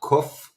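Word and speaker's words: ק: So, and then we have the word kof.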